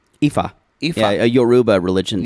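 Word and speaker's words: Ifá: It's pronounced Ifa. Ifa.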